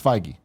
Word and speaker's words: Feige: Fahey. We'll make I'm sure gonna when we run- walk okay. in there, we'll make sure we pronounce it Our correctly. new canon, kind of funny canon, it's Feige.